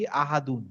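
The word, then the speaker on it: أَحَدٌ: আমি করে দিছিলাম কি আহাদুন। মাহাদুন আপনি যদি লিখে নেন যে আহাদু দুন, হ্যাঁ, আহাদুন, এই আহাদুনে এই হায়ের উচ্চারণটা কেমন হবে? আহাদুন, আহা, আহাদুন, গলার মাঝখান দিয়ে আহাদুন, হ্যাঁ।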